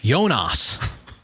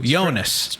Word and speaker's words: Jonas: And even like they're recently on the GCN feed, they've been saying Jonas. So now they're really leaning in to Jonas. Stress on the first syllable.